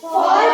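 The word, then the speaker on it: fall: एक कॉन्सोनेंट हो फिर ए हो, हाँ, एक कॉन्सोनेंट फिर ए फिर डबल कॉन्सोनेंट, तो ए की साउंड यहाँ पर क्या हो जाएगी? ओ। जैसे टी A double L toll हो जाता है, एफ ए डबल एल को फॉल कर देते हैं, और डब्ल्यू ए डबल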